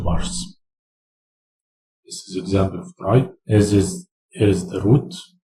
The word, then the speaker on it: trie: Tries, pronounced try, is a tree that specializes in storing data that can be represented as a collection, such as English words.